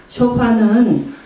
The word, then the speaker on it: shofar: 있습니다 그것이 바로 쇼파입니다 쇼파는 유대인들이 주로 그 하이 할리데이 때 분은 그 순양의 뿔로 만든 관악기인데요 발음을 뒤에 엑센트가 있어서 쇼파 그럽니다 여기 있는 이런 소파가 아니고요 트럼펫과 비슷한 소리가 나고요